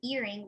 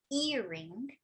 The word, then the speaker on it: earring: So in earring, we say earring, and in necklace, necklace.